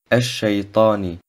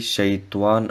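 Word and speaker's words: الشيطان: Ash-Shaytani. Das Alif und das Lam im Wort Ash-Shaytan werden nicht ausgesprochen. Das Wort Shaitan sollte nicht wie Shaytuan ausgesprochen werden.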